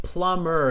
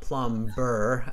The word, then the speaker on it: plumber: um by the way plumber it's a silent uh bee okay it's not it's not plum burr my wife is also